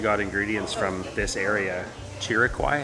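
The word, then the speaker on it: Chiriquí: Chiriquai, I think is how it's pronounced.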